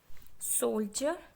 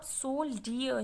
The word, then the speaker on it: soldier: आप सोल्डियर नहीं बोलेंगे, सोल्जर, जे का साउंड आएगा, SOLDIER, सोल्जर, सोल्जर नहीं होगा।